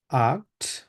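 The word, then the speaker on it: acht: সাথে ট্রাই করুন জিবেন আক্ট ক এর মত উচ্চারণ হবে আক্ট নয়েন নয়েন সেন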